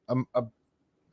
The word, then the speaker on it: Amarius Mims: CBS had Amarius Mims, right? Am I pronouncing that correctly?